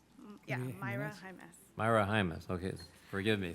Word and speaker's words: Maura Jaimes: Forgive me, I mispronounced your last name before. Mara Jaimes? Yeah, Myra Jaimes.